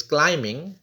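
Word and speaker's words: climbing: silent है सना इज क्लाइमिंग the mountains क्लाइमिंग में B silent यासर रप the wrist watch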